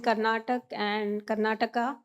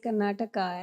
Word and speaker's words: Karnataka: visits to villages in Karnataka and Punjab. So, so we had this discussion about, how to pronounce the names and not stop at Karnatak, but say Karnataka as we do.